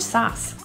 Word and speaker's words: sauce: he's got so much sauce the Au is pronounced as ah an open rounded lit position Savage this refers to